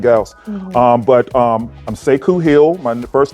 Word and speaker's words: Sekou: Um but um I'm Seikku Hill. My first name is spelled S E K O U.